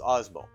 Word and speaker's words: Osmo: Last time I did this, I couldn't even pronounce it. I've been told it's Osmo.